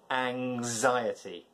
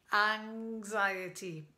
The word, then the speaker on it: anxiety: So ing, and then there's a z sound after anxiety. Anxiety. Now, there's a four-syllable word. There's four syllables in this word. Anxiety. Anxiety. The stress is on the I.